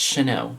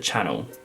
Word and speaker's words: Chanel: like how do people not know that it's Chanel like that's pronounced Chanel like it's renowned for being pronounced Chanel but people pronounce it Channel and it's not even like an accent thing